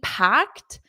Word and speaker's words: packed: Notice the pronunciation, this ED is a T. Packed, t, t, packed, packed.